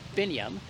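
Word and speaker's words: Binyam: if you like so binium if you remember a bin full of yams you'll get sabinium pretty quickly okay b-i-n-y-a-m is it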